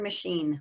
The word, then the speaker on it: machine: the class either machine how about the word machine machine yep you heard that sh french chaos we already did